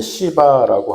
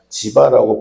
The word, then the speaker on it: 지바: 학말로 이제 사람 이름인데 시바라고 하는 그런 사람인데 제가 지바라고 번역했고 이렇게 발음하는데 왜 그러냐면 이게 좀 더 그 이스라엘의 사람들의 발음에 가까워서 그렇게 한 것뿐이고 여러분 그냥 갖춘 사람으로 이해하시면 돼요.